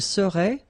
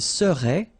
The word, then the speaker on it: serait: And the last one, il serait, A-I-E-N-T here, phonetically it goes like E, okay?